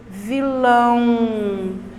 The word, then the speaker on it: vilão: O que proporciona essa palavra ser um som nasal é justamente o aotil. Vilão, vilão. Estão percebendo? Então, quando eu pronuncio a palavra, essa pronúncia, ela me dá condições de saber se a palavra tem um som nasal ou não tem.